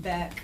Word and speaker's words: Baecht: pronounce it Beck, is how my Beck?